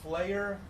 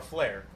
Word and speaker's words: Flayer: mind flayer yep so we could pronounce that player player or flair its FL a ye er it's good question because okay so the metal band Slayer abuse oh yeah Slayer I'm gonna say Slayer Slayer Slayer so what